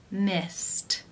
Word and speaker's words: missed: Missed, missed. How do you pronounce this word? The final infinitive sound is the T sound.